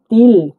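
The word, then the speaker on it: тіл: এর মত ঠিক আছে টি মানে তর মত উচ্চারণ হয় প্রথম লিখছি তিল তিল মানে ভাষা তিনদিন্ ভাষা ঠিক আছে তিল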